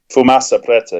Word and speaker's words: Fumaça Preta: Tell me if I'm pronouncing the name correctly. Fumaça Preta? Fumaça Preta, yeah.